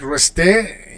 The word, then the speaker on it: rester: All right, so in for verbs ending in er, like rester, you don't pronounce the r, you just pronounce the e, rester.